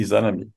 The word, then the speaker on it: Izanami: Izanami, Izanagi e Izanami, né? Como bem frisou o Kaito-san, tem que a sílaba tônica aí, a última, né? Izanagi e Izanami, né?